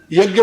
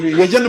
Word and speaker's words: यज्ञ: ज्ञा बोलो ना शुद्ध, यज्ञ बोलो, यज्ञ नहीं बोलेंगे, यजन बोलेंगे, यह बोलेंगे, ज बोलेंगे, न बोलेंगे।